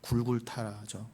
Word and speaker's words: 골고다: 십자가의 필요성을 깨달아 골고다로 가게 돼 있다는 것이. 골고다, 굴굴타라죠. 골고다의 뜻이 뭐다? 굴굴타, 해골에 언다는 뜻이에요. 굴굴타라고는 아람어를 우리식으로 발음하는 게 골고다예요.